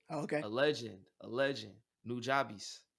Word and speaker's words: Nujabes: a legend a legend nujabes punjabis his name's nujabes i sp i believe it's spelled n-u-j-a-b-e-s got it he's a in the anime